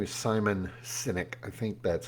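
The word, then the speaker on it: Sinek: There's a a business consultant, leadership consultant, uh, his name is Simon Synynic. I think that's how you pronounce his name.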